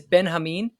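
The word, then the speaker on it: Benjamín: a stickler for these it is Ben Hamin like that's how you should pronounce his name oh Ben Hamin Kashi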